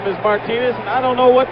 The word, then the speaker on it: Martinez: And we've been told now I was introduced to Buck originally as Martineis. Reggie Jackson's middle name spelled the same way pronounced Martinez. Reggie's been calling him Buck Martinez for I don't know how many years, but now we're told that the absolute correctness of the pronunciation is Martinez.